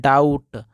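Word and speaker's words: doubt: बी आ जाए तो भी ये वाला बी साइलेंट रहेगा यानी इसको पढ़ते हैं दोस्तों डाउट और डाउट का मतलब होता है संदेह इसको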